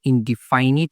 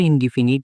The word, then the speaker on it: indefinite: অতএব প্রেজেন্ট এই দেখো ইনডিফিনিট এটাকে অনেকে আমরা ইনডিফাইনিট বলি। তো আমরা ইনডিফিনিট বলব যত ওভারঅল আমরা এটা নিয়ে উচ্চারণ করতেছি। আমাদের স্কুলের টিচাররা এটাই উচ্চারণ করে।